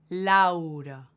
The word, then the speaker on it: Laura: Laura. So there is an A and U, and we pronounce them both.